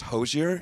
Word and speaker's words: Hozier: our french-canadian fans as well that it's still pronounced hozier yeah it's a nice hard are on that